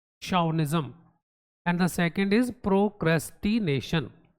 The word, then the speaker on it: chauvinism: The pronunciation is chauvinism, so mind the pronunciation. It starts with ch, but it is chauvinism.